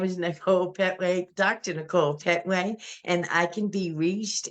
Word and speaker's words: Nichole Pettway: Dr Nicole my name is Nicole pway Dr Nicole pway and I can be reached at Nicole Petway dcom or on Instagram I am Nicole Petway